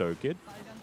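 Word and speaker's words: OHQ: there is nothing that Oh kid can do or five kid or skid depending on what you feel like calling it but it is pronounced Oh kid yes grasp doesn't find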